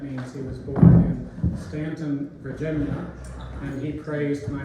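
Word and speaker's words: Staunton: Greg is a native of the Shenandoah Valley, and I just learned this afternoon that means he was born in Stanton, Virginia, and he praised my pronunciation of that.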